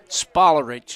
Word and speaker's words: Sparich: and that is again a sparich is the correct pronunciation Chris grow spinal Wellness